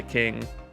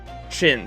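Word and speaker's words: Qin: you pronounce his name it's not kin how did he pronounce the dynasty kin dynasty pronunciation chin yeah that's right chin and his name was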